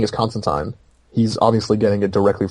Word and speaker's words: Constantine: without one more so if he's saying is constant time he's obviously getting it directly from the source and if Alan Moore says constant time even if everybody else has Constantine allamore created the character and the character's name